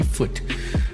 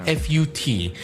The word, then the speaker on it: FUT: It's really foot. It's not fu t.